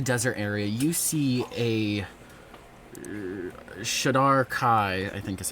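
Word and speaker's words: Shadar-kai: Heading towards the desert area, you see a Shadar Kai, I think is how you say it. Right? Yes. Shadar Kai.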